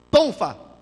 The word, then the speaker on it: tonfa: Tonfa. É essa a pronúncia, tonfa.